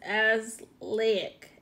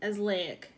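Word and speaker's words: azelaic: dark spot so and the way you say it is as lahic as lahic mm-hmm I worked on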